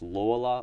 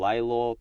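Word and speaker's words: Lalor: station in Mel is Laya on the M line you might have also heard it pronounced laa or Lor but I'm going to pronounce it Laya so you going to have to deal with it it's a struggle to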